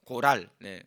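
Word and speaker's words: גורל: 기업이라는 거에요 분기 설 히브리 열어보니까 권 하리라고 발음 하는데요 고랄 근데 이 뜻이 뭐냐면은 상승으로 받는 부동산 또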